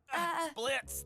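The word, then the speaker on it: Blitzø: Blitz? The O is silent.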